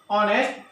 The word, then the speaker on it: honest: Means the H is silent there, honest, the O, it is the sound is vowel sound, so we have to use an.